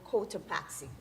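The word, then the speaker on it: Cotopaxi: Can you tell me what is the home of the volcano Kotoaxi? Where will you find the volcano Kottoaxi? Did I pronounce it correctly?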